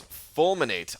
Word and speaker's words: fulminate: Brian, word equals fulminate. I've heard of this word before. I've heard this word, fulminate. I can't remember exactly what it means. It rhymes with culminate, so maybe it means...